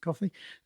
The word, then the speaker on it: Ko-fi: website is that it's ko-fi. They call themselves Ko-fi, I think, but it's supposed to be like coffee, so let's pronounce it coffee.